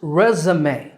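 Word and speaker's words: résumé: This version is spelled with accents, those little slant lines above the E's, and it's pronounced resume in American English. Resume. In British English, it's pronounced resume. Resume. So American resume and British resume.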